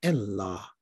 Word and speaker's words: Allah: where he said that proper arabic pronunciation of this definite article when it is on the beginning of a word is not al but like e-l so the name allah should be rightfully pronounced